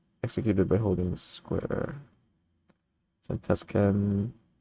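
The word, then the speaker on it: Zantetsuken: Zantetsken. That's how you pronounce it, right? Ignore the U.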